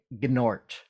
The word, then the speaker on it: Gnort: You and Keith are credited with creating Gnort. Yes, the G is silent.